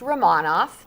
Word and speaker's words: Remonov: the name it's new for me well it's pronounced ramon off so romanov is a local family owned and